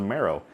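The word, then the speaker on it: Merrow: Sygg, Wanderwine Wisdom, is a non-Merfolk creature known as a marrow. I have no idea how that's spelled, so I just spelled it like bone marrow in my script, so I pronounced it right.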